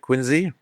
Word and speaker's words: Quincy: It's not spelled with a Z, but that's how the English pronounce it, Quincy.